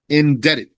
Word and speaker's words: indebted: And those who are in debt, the indebted, indebted with a silent B.